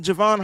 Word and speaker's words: Javon: matter like uh uh Javon Hargrave or Jayvon Hargrave I'm sorry I always pronounce his name wrong because it's spelled Javon was he like a